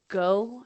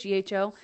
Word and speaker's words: gho: For example, my guide wears what's called a go, I think it's how you say it, GHO.